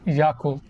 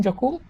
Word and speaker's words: Yakult: You just say it, you read it and say it as it is spelled, just Yakult. And it just kind of blew my mind when I heard Yakult.